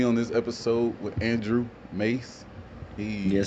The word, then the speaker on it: Maas: It's It looks like it should be Moss, but it's actually pronounced Mace. You know, like Mace, like this the stuff cops spray on bad guys, you know what I mean?